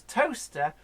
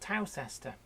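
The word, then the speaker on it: Towcester: you'll never find it because toaster is spelt Towe sester yeah it took me until I was in my 30s to work out that this place called toaster that I kept hearing mentioned on the radio traveling news was the place that I was seeing on road signs that I thought was called town Chester us wacky Brits hey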